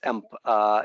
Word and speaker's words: AMP: The proper pronunciation is AMP emails and everything related to this.